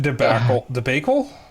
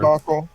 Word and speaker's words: debacle: So after that debacle? I don't know how to pronounce that word. Debacle.